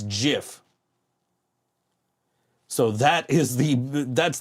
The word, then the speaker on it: GIF: I will argue to the death that it's pronounced Jif not gif that that is the hill I will die